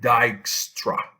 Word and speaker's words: Dijkstra: it it is called dykstra so this j as far as i checked it's not pronounced and it's called dijkstra's algorithm it's a pioneer